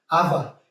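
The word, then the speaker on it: עוה: La raíz de esta palabra se pronuncia ava y significa actuar perversamente, pervertir, torcer.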